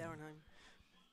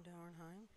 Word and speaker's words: Dauernheim: I'm confused, but it's Dauernheim. Is that how you say it? Mm-hmm. Downheim. Oops. Well, Someone kind of left a. All right. Okay, looks like Sean Weiss for Team Dauernheim is indicating where to throw it.